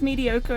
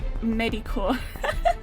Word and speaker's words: mediocre: You still pronounce mediocre as medicore.